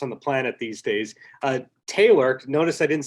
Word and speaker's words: Taylor: Because I never want to say the name wrong of the person I'm speaking with. Oh, that's funny. Yeah, thank you. It's Taylor.